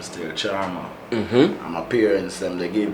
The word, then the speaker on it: Chalmar: me the name still Charmer. And my parents, they gave me the name. They spell it Chalmar. Okay. Right? The L is silent.